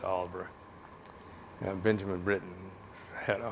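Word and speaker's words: Aldeburgh: own place in Auburn alderberg it looks like it's spelled it's Oliver yeah Benjamin Britton had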